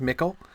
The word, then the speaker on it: mickle: But it's as it's the ch is definitely hard, mickle, because it's evocative of the sort of the newer word.